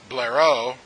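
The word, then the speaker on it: Blériot: write that down but Blair oh and that's how you say it I'm not that my French is that good but this T is silent in his last name and he took his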